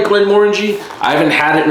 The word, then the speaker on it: Glenmorangie: When I first started seeing, I called it Glenmorangie, but it is pronounced Glenmorangie.